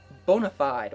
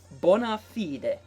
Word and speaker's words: bona fide: this a lot, is bona fide, or the correct Latin pronunciation would be bona fide.